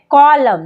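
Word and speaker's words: column: क्या पढ़ते हैं ऑटम कॉलम यहां पर भी एन एम के बाद है तो पढ़ते हैं कॉलम ना कि कॉलम एन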